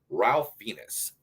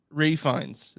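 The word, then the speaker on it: Ralph Fiennes: is the menu featuring Ralph Venus actually goes refines for some reason the pronounce the L and then oh yes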